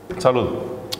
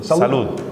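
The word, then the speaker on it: salud: Салуд. Салуд. How do you say in Chilean? Салуд.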